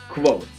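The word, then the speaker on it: Kvothe: of it pronounce it quote like quoth the Raven Rothfuss pronounces the V instead of making it a huge sound so it's close I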